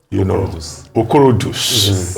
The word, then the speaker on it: Okorodus: Well, on that note, we'd like to thank you very much, Okorodus, and Okorodus. Okay, that's the correct pronunciation.